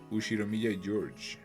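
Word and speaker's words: Ushiromiya George: His name is pronounced Ushiro Mia George.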